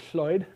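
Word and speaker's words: Llwyd: a voiceless cell so there's a traditional welsh name spelled like this and pronounced floyd which has been borrowed into english twice as the name lloyd and the name floyd these are both attempts to pronounce floyd which we can't pronounce because we don't have that sound um uh yeah so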